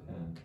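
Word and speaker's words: 天: Ten, that's ten, not the number ten, but it's pronounced ten, which means heaven.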